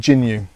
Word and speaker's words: Jginyue: okay so it's pronounced Jin jinu Rising Accent on the E okay I get I get the general idea we'll just say it's I'll go with jinu that works for me